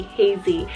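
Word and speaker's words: Hazie: Then I have Hazy, spelled H-A-Z-I-E, Hazy, and this one's a weather word name.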